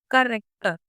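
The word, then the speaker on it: character: जैसे कि करेक्टर में आप CH को कैसे प्रोनाउंस कर रहे हो? क, करेक्टर, तो यहाँ पे के की साउंड है।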